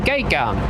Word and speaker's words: Gagan: of a number 9, you pronounce his last name Gagan.